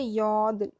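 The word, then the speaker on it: 여덟: Similarly इस case में इसका कोई वॉवल नहीं जुड़ा हुआ, इसलिए इसकी कोई साउंड नहीं है, ये साइलेंट है। तो इसलिए यौद, खाली इतने पोर्शन की आपको साउंड आ रही है, यौद।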